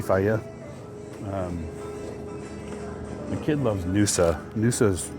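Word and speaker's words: Fage: Faya is a good choice. F-A-G-E, Faya.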